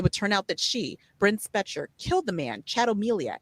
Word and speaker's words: Bryn Spejcher: And Tuesday, her name is Bren Specher. The spelling of her name is weird. So I had to really think about it and listen for how they pronounced it.